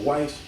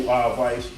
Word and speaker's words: Weisz: My girl Rachel Weisz, is it Weisz or Weisz? I think it's pronounced like a V, but it's a W, but Weisz. Anyway, Rachel, love her.